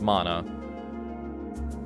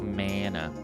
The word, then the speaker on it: mana: guidance of my mana apparently it's pronounced mono not mana any luck no unfortunately